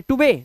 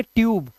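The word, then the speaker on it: tube: टूबे नहीं इसे पढ़ेंगे ट्यूब।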